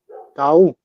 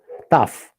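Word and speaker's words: ταυ: Tau. Tough. Tough. Yes. Tough. What matters? Sound like English. Tough, like firm.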